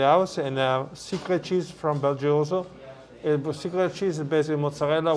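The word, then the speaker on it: BelGioioso: And if you're at a store and you want to get decent cheese, you said Belgrio, how do you say it? It's right behind us. Belgioso.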